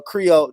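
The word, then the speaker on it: Krio: got Jacob I want to hear this uh Creole this Creole language from this do your thing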